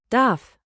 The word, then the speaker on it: Darf: Say Darf. with a clear F, then the soft German Ich.